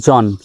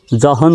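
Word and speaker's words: John: এইচ এখানে আছে তো এইচ এর উচ্চারণ কিন্তু হবে না সাইলেন্ট থাকবে জে ও এইচ এন শুধু জন জহন নয় জন হিট মি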